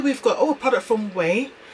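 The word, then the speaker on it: Ouai: Here we've got a product from Way, so O-U-A-I, and I think they pronounce this as Way.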